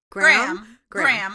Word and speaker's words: Graham: Geez, I'm not gonna pronounce his name right. Graham.